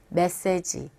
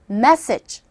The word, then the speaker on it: message: 그래서 이 발음을 이제 여러분들은 이제 한번 연습해 보세요라고 시켜보게 되면 메시지 이렇게 발음을 하게 됩니다. 그런데 메시지가 아니라 이 첫 부분의 강세를 줘보세요. 그리고 G 발음을 하시되 약하게 하면 됩니다. 따라해보세요. message.